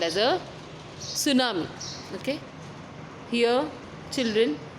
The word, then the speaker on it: tsunami: Okay, children, once again I will repeat, the word is not T tsunami, it is tsunami. Here T is silent, and it is a Japanese word which means harbor wave.